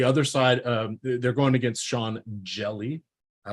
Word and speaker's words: Hjelle: The other side, they're going against Sean Hjelle.